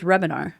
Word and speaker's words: Hrebenar: how you cuz it's Rebinar. Rebinar. Yeah, Rebinar. Okay. That was good. Nailed it. Nailed it. The H is silent. So, there's an H, so it throws everybody off.